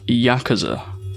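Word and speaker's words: やくざ: most worthless hand possible in oo kabu 89 and three pronounced yakaza there were two groups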